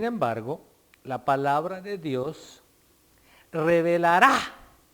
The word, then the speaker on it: revelará: Sin embargo, la palabra de Dios revelará, con acento en la A, al investigador.